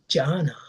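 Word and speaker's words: jhana: And in Indian uh ordinary speech it is called janna.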